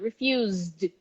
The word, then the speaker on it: refused: had refused okay refuse look there's a z sound refused refused refused now here